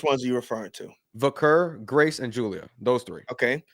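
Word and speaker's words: Vaquer: Uh I'm I'm going to say it like Michael Cole now. Stephanie Vakair because people can't say I'm wrong because that's how Michael Cole says it.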